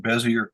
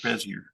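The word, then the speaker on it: Bézier: Those are called Bezier curves.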